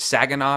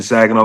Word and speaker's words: Saginaw: you're from, and I don't know if I'm pronouncing it right, but is it Saginaw, Michigan? Is that how you say it? Yep, Saginaw, Michigan.